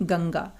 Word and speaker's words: गंगा: आप पाएंगे जो बिंदु है, जो अनुस्वार है, उसकी आवाज हम नाक से निकाल रहे हैं, गंगा।